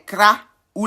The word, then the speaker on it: Krao: On pourrait les appeler les Kra ou les Krao. Les Kra ou les Krao. Ça s'écrit K-R-A ou K-R-A-O.